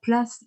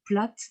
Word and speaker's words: Plath: parler de sylvia place alors place ou plate on a un choix de prononciation selon que l'on prononce à l'américaine ou à l'allemand de classe qui tend